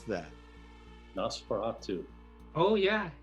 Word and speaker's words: Nosferatu: How do you pronounce that? Nosferatu.